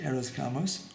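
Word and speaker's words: hieros gamos: arrows gamos type idea h-i-e-r-o-s-g-a-m-o-s i think it's pronounced eros gamos that where the king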